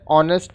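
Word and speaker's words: honest: दोनों व्यंजन ध्वनि है ऑनेस्ट बॉय एंड साइलेंट है ऑनेस्ट इसका उच्चारण है फिर है वेरी ऑनेस्ट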